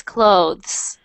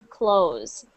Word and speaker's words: clothes: you oh my god clothes when we talk about clothing clothing for some reason we often pronounce clothes even though it's Tes we sometimes pronounce it like close almost the exact same pronunciation and the reason is because when we're saying it quickly we sometimes forget the th sound so sorry to confuse